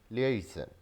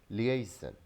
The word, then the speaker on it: liaison: We're mistaken about spelling and pronunciation of this word. This word is liaison, liaison, LIAISON, liaison.